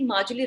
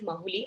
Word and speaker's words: Majuli: Please note about the Majuli River Island also, guys. I hope it's pronounced as Majuli. I've heard some people calling it as Mahuli. I don't know. So Majuli, the spelling is Majuli.